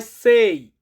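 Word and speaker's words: sei: ছয় এটাকে ইতালিয়ান ভাষাতে বলা হয় সেই।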